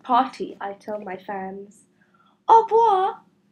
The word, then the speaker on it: au revoir: Au revoir. You say it like this. Au revoir. That's French for goodbye.